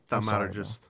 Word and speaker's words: thaumaturgist: Thaumaturgist.